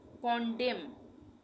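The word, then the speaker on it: condemn: के बाद ठीक है तो यहां पर भी एन का उच्चारण नहीं होगा यहां पढ़ेंगे कंडम कंडेम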